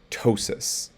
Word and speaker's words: ptosis: sounds like an s p t sounds like a t so psychiatrist and ptosis otherwise you can also